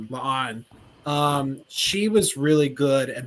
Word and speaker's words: La'an: And Union Singh, or I don't think I said it right. La'an.